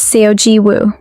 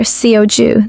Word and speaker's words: Seoji Woo: telling him that her real name is Seoji Woo. He gets the name wrong on his first try, calling her Seoju, the same error the priests at the temple made when she told them her name.